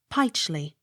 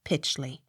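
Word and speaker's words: Pytchley: u g h pew p y t c h l e y pichly not pitchly r u t h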